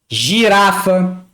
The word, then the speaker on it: girafa: G mais I tem som de G. Girafa, agitado.